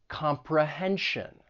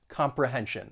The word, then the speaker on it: comprehension: So words that end in T-I-O-N or S-I-O-N, it's pronounced as shun, but the stress is going to come on the syllable before. Pronunciation, comprehension.